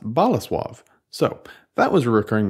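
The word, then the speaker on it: Bolesław: me via email Thank You Jake it's not pronounced bola suave it's pronounced bola suave so that was a recurring mistake it will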